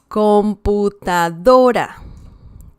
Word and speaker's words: computadora: So we see that we're talking about, or we have here the stress on the second to last syllable. It's not the last one, it's the one before that one. Computadora. We're not saying computadora. We're saying computadora.